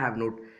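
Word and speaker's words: haven't: तो क्या बोलेंगे, आई हैव नॉट, हैवेंट को टी साइलेंट कर दीजिए, हैवन ही बोल लीजिए, आई हैवेंट टॉट, मैंने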